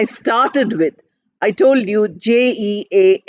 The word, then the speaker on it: Jean: of the spelling is j e a n in English we might pronounce it as Jean but in France it is pronounced as je so Z is the